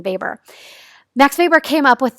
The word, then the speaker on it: Weber: And so one theorist by the name of Max Weber, and I know it says Weber, but you actually pronounce his name Weber.